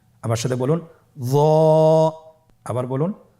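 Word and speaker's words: ظاء: একটু মোটা করে বলতে হবে। হরফটি হলো মোটা হরফ, বারিক করে পড়া যাবে না এবং হরফটি উচ্চারণ করার সময় অবশ্যই 1 আলিফ টেনে পড়তে হবে। আমার সাথে বলুন য।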